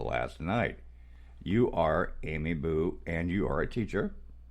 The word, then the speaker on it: Bue: off the bat and her name is Amy boo and I said it right I said it